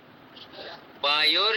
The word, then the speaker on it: वायोर: वायुर है कि वायुर है? मैं बोलता हूँ, हाँ बोलो। अग्ने ऋग्वेदम वायोर यजुर्वेदम, इस तरीके से आया है। वायोर, इस तरीके ओ की मात्रा लगी हुई है।